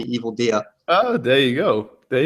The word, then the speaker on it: EvilDea: evil deer oh what is there a different pronunciation no no it's weird because like I only ever hear it online in written form so I've never actually heard anyone call me evil dear oh there you go